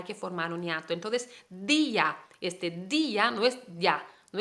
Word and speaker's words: día: Entonces, día, día no es ya, no es un monosílabo, es día. Hay la sílaba di y la sílaba a, día, entonces es una palabra